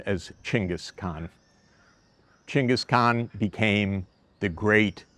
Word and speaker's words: Chinggis Khan: We know him as Chinggis Khan in English, or more appropriately in Mongolian pronunciation as Chinggis Khan.